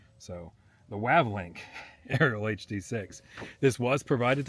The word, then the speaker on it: Wavlink: pronouncing it right now I was calling it wavelink before and there's no e in there so the wavlink aerial hd6 this was